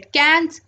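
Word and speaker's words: quinze: 15 को बोलते हैं कैंस।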